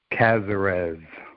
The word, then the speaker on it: Casarez: and i'm not gonna even try to pronounce your last name how do you say it cazarez that we've got casarez that was pretty